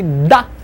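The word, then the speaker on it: д: When I say da, my tongue on top of my upper teeth, I just push it away, da, da.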